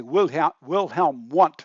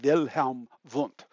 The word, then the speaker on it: Wilhelm Wundt: and I'll say that you'll say Wilhelm Wundt, but actually the German pronunciation of his name is Wilhelm Wundt.